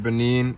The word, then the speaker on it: Benin: So we're 13% Benin. That's how you pronounce it in English.